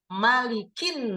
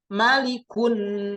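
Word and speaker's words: مَلِكِ: Tiba-tiba ini tulisannya menjadi malikun nas, qul a'udzu birabbin nas malikun. Nah, misalkan ya, harokatnya menjadi dhammah. Lalu kita pikir, loh, ini kok kenapa menjadi maliku? Harusnya kan maliki ya.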